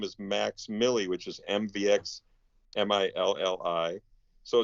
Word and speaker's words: MVX MILLI: And so my son's stage name is Max Millie, which is MVX MILLI.